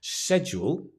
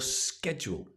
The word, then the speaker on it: schedule: So there are two ways you can pronounce it, right? You can say schedule, or schedule. And actually I say schedule.